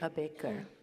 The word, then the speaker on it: Ambedkar: How do you pronounce Ambedkar. it? Ambedkar.